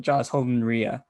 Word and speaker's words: Holden-Rea: Joss Holden-Rea, co-writer and composer and lyricist for Stuff, the short taxidermy musical inspired by a German cannibal.